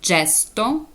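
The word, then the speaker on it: gesto: в середині слова наприклад коли читається G як Дж так наприклад коли зразу після неї стоїть голосні е і та тоді вона читаєте Дже д наприклад джесто дро жест Круг або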